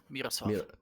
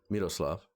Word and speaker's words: Miroslav: Miroslav. Miroslav.